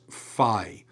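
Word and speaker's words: phi: as so that is fi has that ph sound like you would get at the start of phone. Uh so in other words it's really more of an f.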